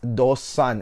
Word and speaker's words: Do Son: here but really the right way to say it is dos son now what i really